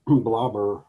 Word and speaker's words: blubber: had blobber lips and blobber was the archaic pronunciation of blubber and and so you